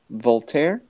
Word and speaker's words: Voltaire: is no how do you say the name Voltaire wheelchair nope ve o LT AI R II